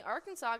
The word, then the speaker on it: Arkansas: River very cool apparently Arkansas got its name from French settlers in the region the word Arkansas is pronounced with the silent S at the end interestingly it is against